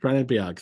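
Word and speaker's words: Bennebjerg: Is how you pronounce that name? Benebjerg, thank you.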